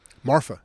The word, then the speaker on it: Marfa: number of people talk about it, if I'm pronouncing it correctly, I think it's Marfa. Marfa, yeah.